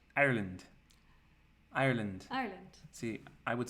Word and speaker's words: Ireland: and her parents that we we say Ireland as two syllables yes and Americans had three so Ireland and they